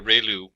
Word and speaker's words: ReLU: we have the ReLU, it's pronounced like ray, the ray from the sun, and lu, like a name, so ReLU function.